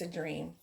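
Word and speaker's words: Adream: It's not Adrian, it's a Dream.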